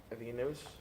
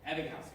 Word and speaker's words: Ebbinghaus: Alfredo, which psychologist made use of nonsense syllables? Evenus? I don't know how to say it. Ebbinghaus, correct.